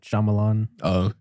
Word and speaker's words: Shyamalan: Night Shyamalan.